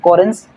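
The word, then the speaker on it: Correns: Karl सी O double R ई एन एस कोरेंस और तीसरा scientist von शर्मार्क शर्माक शर्मक शर्मक यहां पे टी साइलेंट है और इसकी जो प्रोनाउंसिएशन होगी वो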